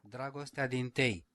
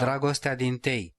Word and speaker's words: Dragostea din tei: Hold on, there's pronunciation. Oh, wait. Have you ever done the play on Wikipedia? Dragostea din tei. I have no idea. No. Dragostea din tei.